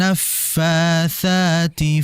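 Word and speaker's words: النَّفّٰثٰتِ: Fa itu kan bertasid Fanya disertai udara naf naf naf ya Ada udara mengalir naf jangan sampai dibaca Pa Nail nah jangan ya sangat berbeda wyarin naffasati fil uqad fil uqad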